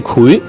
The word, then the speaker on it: 檜: 嗱，發音係秦檜嘅檜，油炸檜。